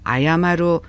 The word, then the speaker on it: 謝る: 먼저 같은 한자 다른 발음이에요. 아야마루 이렇게 발음을 할 때는 이 뜻으로 읽는 단어는 JLPT M4급 5단 활용 타동사로 사죄하다, 사과하다, 손들다, 사절하다.